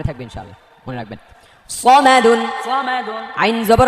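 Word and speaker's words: صَمَدٌ: সামাদুন, সামাদুন বলা যাবে না, সামাদুন বলে এটা সিন হয়ে যাবে, এটা সদ স স। সিনের উচ্চারণ সা, আকার হবে একটা, আকারটা মুছে ফেললে স, আকার দিলে সা। সদ হচ্ছে আকার ছাড়া স স, সিন হচ্ছে আকার দিয়ে সা সা।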